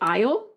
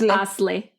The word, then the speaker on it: Asle: pronounce his name cuz I was going to say like aisle like go down the aisle but it's asle because it's with an asle e asle as oh man you